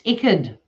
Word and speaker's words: Icked: Well, no, all the YouTubers that can't pronounce his name, I'm like, it says it's like wicked without a W.